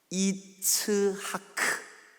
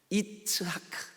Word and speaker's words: 이츠하크: 히브리 말이 이게 그 목을 긁는 소리를 많이 써요.